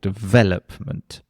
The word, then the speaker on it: development: So if I say the word, for example, development, obviously it has the stress on the second syllable, development.